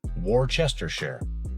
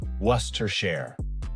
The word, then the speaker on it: Worcestershire: If you try sounding it out, you might say something like Worcestershire, but that's not even close. The correct pronunciation is more like Worcestershire. It comes from Worcester, a historic city in England, and like many English place names, the spelling doesn't match the way it's spoken.